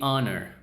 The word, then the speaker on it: honor: manera, puedes usar a o a cuando estás pronunciándolo correctamente, right? So, an hour, not a hour. An honor, it's an honor to serve you, sir. Not a honor.